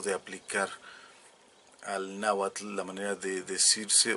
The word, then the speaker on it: náhuatl: esa manera de escribir o de aplicar al náhuatl, la manera de decirse o de escribirse, pero es una cosa absurda que no tiene por qué aplicársele al náhuatl.